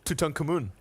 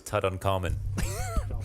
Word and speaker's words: Tutankhamun: to uh how did you say his name Tutankhamun does that how you pronounce it yeah okay yeah I thought it was Tut uncommon no excuse me proceeded by Tut rare I'm